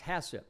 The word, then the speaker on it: HACCP: this is referred to as HACCP pronounced hasip for hazard analysis and